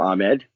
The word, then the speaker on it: Ahmed: buddy from Morocco and he prefers to be called Ahmed so you can call him Ahmed but the pronunciation should be Ahmed look there hasn't been